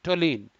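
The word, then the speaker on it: toluene: और कुछ important organic compounds के नाम बता दूं मैं, बेंजीन, टोलीन, बच्चों यू साइलेंट है, टीओटो, एलियन, लीन, टोलीन, नेफ्थलीन, एनिलीन, फिनॉल।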